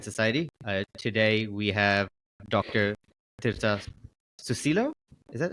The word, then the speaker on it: Tirta Susilo: Tirta Susilo. Is that how you pronounce it?